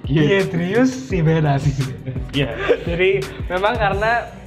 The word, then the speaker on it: Giedrius: Gimana bacanya? Giedrius Sivenas.